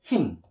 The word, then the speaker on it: 힘: And when you put the consonant mim, it'll pronounce as him.